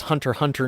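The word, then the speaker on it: Hunter × Hunter: Hunter Hunter Nen Impact I learned you're not supposed to pronounce the X there has also been shipping out there.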